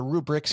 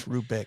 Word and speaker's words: Rubik: We should call it the Rubric's cube. That's true. That's a Rubik Rubik cube. It's Rubik.